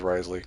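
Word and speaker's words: Wriothesley: Like Risley, that's apparently the best way to say it is Risley.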